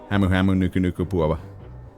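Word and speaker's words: humuhumunukunukuāpuaʻa: But in the Hawaiian language, it is pronounced hamu hamu nuku nuku pua'a.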